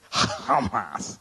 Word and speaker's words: Hamas: That's the way you're really supposed to pronounce it. Hamas.